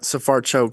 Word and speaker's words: Sfarcioc: by phone pronunciation of Safaruk? I think uh safar choke. So um it's kind of like s u h s then uh far f a r and then choke.